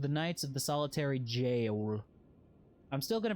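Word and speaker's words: Gaol: The G in Gowl. How is it being pronounced here? Think about that for a second next time you want to make fun of me for pronouncing GIF. Hmm? That's jail. That's jail.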